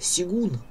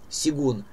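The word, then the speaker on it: Сёгун: И я недавно начал смотреть сериал, называется «Сигун». Он пишется «Шоган». «Сигун».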